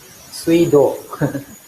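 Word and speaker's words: 水道: Yeah, simply put, it's up to the context, and especially when this Chinese character is combined with one more Chinese character, usually it's pronounced as su.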